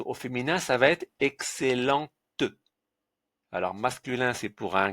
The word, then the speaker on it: excellent: Donc le C c'est plus ce n'est plus ce mais celle. Donc excellent. Excellent. Voilà, il nous reste quand même le T à la fin. Aïe aïe aïe aïe aïe aïe aïe. Donc comme il est à la fin, qu'est-ce qu'on va faire ? On va pas le prononcer.